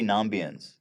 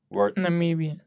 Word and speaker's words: Namibian: With another Argentinian and 3 Nambians. Namibian. Wait. Who worked for We clarified that. That's how you say it.